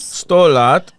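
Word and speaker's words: sto lat: 100 lat.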